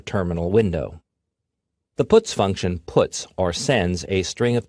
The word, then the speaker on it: puts: They are pronounced: printf, putCar, and puts.